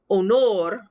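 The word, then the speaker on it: honor: hear the h so if i'm saying the word onor you'll notice i don't even say the sound of the h if i'm saying hospital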